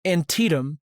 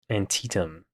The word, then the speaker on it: Antietam: I wanted you to know the really annoying way to pronounce that word. It's Antietam. Antietam.